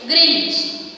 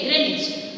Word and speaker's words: Greenwich: It is written in your textbook in this way, but we need to pronounce is Greenwich. Okay, Greenwich.